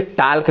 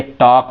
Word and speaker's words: talk: तो आप देखेंगे यहाँ TALK, बहुत से बच्चे टाल्क कहते हैं, लेकिन क्या है? ये टॉक है।